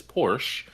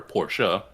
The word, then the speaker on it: Porsche: Then behind them is Porsche, or Porsche.